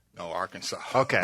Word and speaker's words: Arkansas: Now, do you pronounce it Arkansas? No, Arkansas. Okay, all right. No, Arkansas.